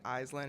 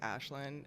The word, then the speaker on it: Aislinn: Like Aislinn is just Gaelic Aislinn.